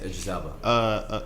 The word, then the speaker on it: Idris Elba: Yes, Idris Elba.